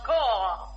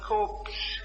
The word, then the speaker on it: corps: the cops pardon me that word is pronounced cor I always call it corpse means a body of